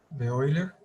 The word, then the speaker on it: Euler: Bueno, primero, E es el número de Euler. Número de Euler. Esta EU se pronuncia hoy como en Freud.